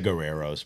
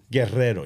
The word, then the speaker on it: Guerreros: Guerrero. You got to roll the R.